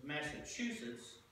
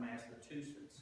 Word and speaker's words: Massachusetts: He told us that we Kentuckians mispronounced his native state's name. It was Massachusetts, not Massachusetts. We learned that he caddied